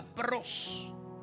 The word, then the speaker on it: pros: Esta palabra viene del griego contra la palabra contra y se pronuncia pros.